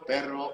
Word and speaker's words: perro: things they're like, yo, you have to know how to roll your R's, you know. But like, yeah, Definitely. It means that the difference between the word butt, the word dog, and the word fart. Pero, perro, and pedo.